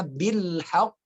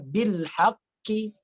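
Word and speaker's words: بِالْحَقِّ: Maka bacanya bil haqq. Tahan, pantulkan. Tabbat yada abi lahabin wa tab. Ma aghna anhu maluhu wa ma kasab. Sayasla naran. Gitu ya. Surah Al-Asr ayat 2 jangan dibaca bil haqqi tidak.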